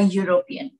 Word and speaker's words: European: Here U, if you write Y, double O, U, U, that is quite similar with university's U, university.